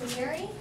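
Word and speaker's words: Maury: How do you pronounce his last name? He lived from 1806 to 1873. Matthew Murray?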